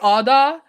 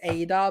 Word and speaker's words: Ada: it's square because uh i say oda i don't know why i know it's ada but all that is like a norwegian how you say norwegian that's why i say it like if like if you met someone in norway they would say your name ada not adam but either